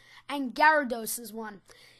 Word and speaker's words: Gyarados: minute and explaining to this guy like it's gyarados ok pronounced enough to me guerra de luto reduce